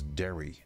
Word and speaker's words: Daoiri: is uh I was told the way to pronounce this is dairy dairy Farrell even though it's built d-a-d-a-o-d-a-o-i-r-i Dairy